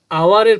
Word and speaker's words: hour: Wait here, এখানে অপেক্ষা করো, ফর হাফ অ্যান আওয়ার, আধা ঘন্টা ধরে এখানে অপেক্ষা করো, তাহলে আওয়ারের প্রথমে এইচ আছে কিন্তু উচ্চারণ হচ্ছে আ, আওয়ার, আয়ের মতো উচ্চারণ হওয়ার কারণে, বা স্বর আ আর এর মতো উচ্চারণ হওয়ার কারণে এখানে অ্যান হলো।